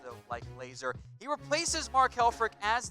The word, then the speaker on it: Lazor: their new offensive coordinator bill laser that has pronounced laser I know it's spelled cor it's pronounced though liking laser he replaces Mark Helfrich as the new Bears